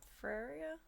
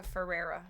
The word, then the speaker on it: Ferrera: America Ferrera. I always put an A in her name.